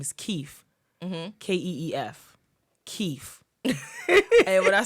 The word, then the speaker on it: Keef: First of all, his name is Keef. Keef. Keef. And when I saw that, I was like, why would they do that? Not Keith. Keef.